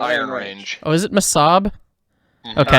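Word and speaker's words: Mesabi: Oh, is it Masab? Mhm. Okay, I- I don't know how to say it then. Never mind. Bruce Springsteen says Misabi, so I would go with that.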